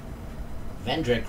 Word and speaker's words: Vendrick: he visit vandrak okay vendrick rhymes with schmendrick we have no need